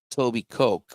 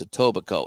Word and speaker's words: Etobicoke: Etobicoke. It's spelled. It looks like Toby Coke, but it's Etobicoke, and I had a hard time saying that.